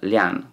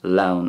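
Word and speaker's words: lionn: technically means el um liane could also be pronounced laon as well denmark as well as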